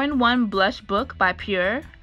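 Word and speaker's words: Pür: one blush book by Pierre I believe that's how you pronounce it PU R this is the most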